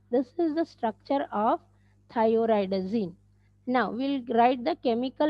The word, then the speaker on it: thioridazine: The pronunciation of this derivative is thioridazine.